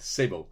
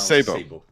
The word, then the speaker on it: Sebo: saying your name right yeah yeah it's correct Sabo it's not Sao but Sabo we pronounce Sabo Sabo that's perfect you know so you are